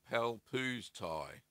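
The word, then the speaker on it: Pálpusztai: Eagerly waiting for your Limburger recipe, since it's the closest to our local famous Palpuszatia. Oh, Palpuztai.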